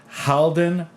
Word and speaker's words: Halden: Haldin.